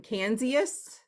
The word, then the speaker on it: Canzius: So it's, how do I pronounce your last name? Canzius? Oh, yes. Okay. You got it on. Yes, that's it. Good. Canzius.